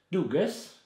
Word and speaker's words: Dugges: I'm saying it wrong, actually. I found out in Sweden. It's Dugas. Dugas? Dugas, not Dugas.